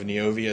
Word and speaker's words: Neovia: Of Neovia Solutions.